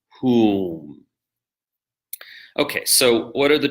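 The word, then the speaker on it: hūṃ: because it's onomatopoetic, but the word hum in English is the exact same spelling as the mantra whom, though a slightly different pronunciation, because the vowel in the mantra is oo, whom.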